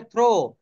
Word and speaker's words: through: THROUGH, এটা থ্রো বলবো না দো বলবো, কেউ বলতে পারবেন? এটা থ্রো বলবো না দো বলবো? আমাদের উচ্চারণে অনেক সমস্যা থাকে, কেউ বলতে পারবেন এটা কি বলবো আমরা?